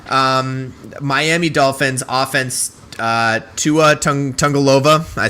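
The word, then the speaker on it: Tagovailoa: about it so um miami dolphins offense uh tua tungalova i said it there it is exactly how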